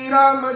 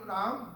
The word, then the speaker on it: Ram: He says here that that name, Ram, Do means two, Akshar ka naam means that name is in two syllables. Ra and Ma.